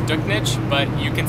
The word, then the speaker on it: Duchnycz: Jordan, how do you pronounce it? It's Duchnycz, but you can say it however you want.